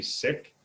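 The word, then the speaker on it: Sikh: don't study is the seek religion if you were to listen to the how they say it they say sick but because of the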